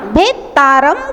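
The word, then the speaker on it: भेत्तारम्: मोक्ष मोक्ष मोक्ष मार्गस्य मार्गस्य नेतारम नेतारम भेत्तारम। देखिए नेतारम में एकता है और भेत्तारम में दोता है, तो उच्चारण करते समय हमेशा ध्यान रखेंगे नेतारम में नेतारम, भेतारम में भेत्तारम, दोता का उच्चारण करना है तो आपका उच्चारण एकदम शुद्ध होगा।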